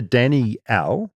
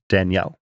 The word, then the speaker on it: Danielle: in the Southern Hemisphere, we pronounce it with 2 syllables, as it is a combination of 2 names, Danny and Al. Whereas in the North, it tends to get combined into 1 syllable, more like Danielle. Sounds like you said Daniel, though. Danielle. So it's either Danny-Al or Danielle.